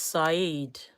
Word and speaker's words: Said: His name is pronounce it Said. It's Said.